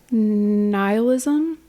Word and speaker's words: nihilism: Nihilism.